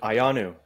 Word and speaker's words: Ioannou: Ioannou, am I pronouncing that correctly, my friend? It's good, Ioannou.